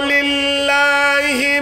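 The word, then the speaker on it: لِلّٰهِ: বলুন না নারায়ে তাকবীর আল্লাহর আলিফ কেটে দিলাম উচ্চারণ হবে লিল্লাহি আকাশের মালিক কে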